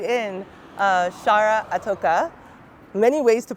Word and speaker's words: Itoka: Chara Itoka. Many ways to pronounce my last name, but that's the one I'm going with today.